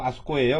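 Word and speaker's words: あそこ: 자, 장소는 곡고, 속고, 아속고, 도꼬인데 이때는 아꼬가 아니고 아속고예요. 왜냐면 아꼬 하면 발음이 잘 안 돼요. 그래서 아속고 이게 하나 더 들어가 있어요.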